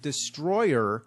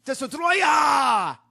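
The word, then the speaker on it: Destoroyah: all merge into one the name of the monster surprisingly isn't Destroyer it's dya yeah that's the official name dya it's spelled just like that maybe because they couldn't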